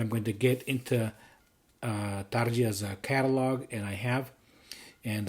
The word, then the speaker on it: Tarja: Here is the first one here from Tarja. I believe that is how she herself pronounces her name.